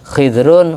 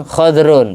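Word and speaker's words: خضر: yang pernah diinjak Nabi Khidir menghijau jadi tumbuh-tumbuhan, makanya dijuluki Khidir, hijau. Bisa Khidir, Khidrun, Khadrun, bacanya terserah.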